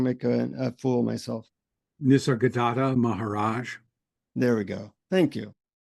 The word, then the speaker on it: Nisargadatta Maharaj: But no, you pronounce it, so I don't make a fool of myself. Nisargadatta Maharaj.